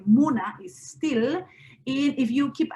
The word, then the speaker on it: múna: What we have in Kokama is primary stress is not lexical assigned, but it depends on it goes in the penultimate syllable. So like a word like Muna is still, if you